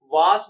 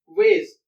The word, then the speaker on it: vase: कुछ लोग इसको वास भी पढ़ते हैं, लेकिन वेज टॉकिंग डिक्शनरी के अंदर अगर आप इसकी प्रोनाउंसिएशन देखेंगे या सुनेंगे तो वो वेज ही कहेगा.